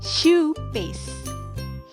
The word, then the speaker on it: choux: Jadi bukan chalk, tapi choux paste. Bacanya choux paste.